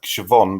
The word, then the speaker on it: Siobhan: Yeah, but then you've got the Irish name for a woman like Siobhan, but they spell it SHOB or something like that. Siobhan, yeah, silent B or something.